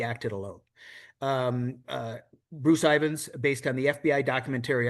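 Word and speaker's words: Ivins: What is the proper pronunciation of the man's name? Ivans.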